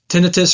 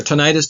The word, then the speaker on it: tinnitus: be evolved with this tinnitus or tinnitus depending on how you want to pronounce it vision distortions and